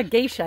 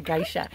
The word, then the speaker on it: geisha: my geisha or guy yeah geisha i guess it's pronounced i was calling it a guy shot she remind me of